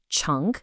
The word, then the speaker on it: 乘: It's pronounced "cheng".